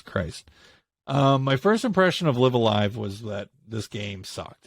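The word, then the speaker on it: Live A Live: So, next game that I played during my travels on my Switch was LiveAlive. We have agreed that that is how it's said. LiveAlive.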